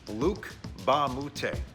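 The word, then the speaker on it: Luc Mbah a Moute: bad as it looks the m is silent so it's luke bamboote luke ba moutay actually went to monvert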